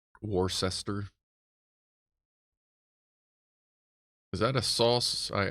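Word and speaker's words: Worcestershire: speaking folks give up Americans can't even pronounce War sister War sister I always say War sister Shire but war sester is that a sauce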